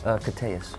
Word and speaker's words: Koteas: Pronounced Koteas.